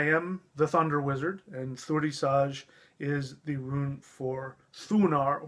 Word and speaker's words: Thurisaz: Again, every time there's a Z, I pronounce it as a J. I have no reason for that other than that's what my spirit tells me. That's how the rune wants to be pronounced.